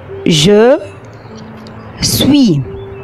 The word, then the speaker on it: je suis: يلا بقى معايا ننطقه بالراحة. جو سوي سوي سوي.